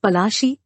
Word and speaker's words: Palashi: Plassey is an anglicized pronunciation of Palashi, and the place derived